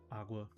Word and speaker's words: OGW: It's pronounced Agua.